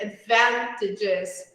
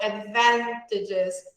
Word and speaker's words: advantages: syllables, it happens on Like here, advantages. So advantages. So here on the second, okay?